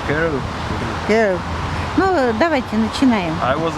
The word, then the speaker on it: Kerridge: Керричи, да? А не буква W. W. Все равно Керричи, да, читается? Kerridge.